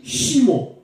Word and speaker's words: Shimon: Mais en hébreu, le SH, ça se dit Shimon.